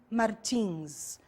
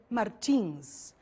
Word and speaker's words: Martins: Pay attention to the different pronunciations of the last name Martins. Okay, I am Brazilian. I said Martins. In your CD, we have some American people, and they said Martins. Okay, so just to call your attention to the different pronunciation of some words.